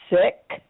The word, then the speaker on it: Sikh: about it yes um it's spelled SI i k sick and sick means you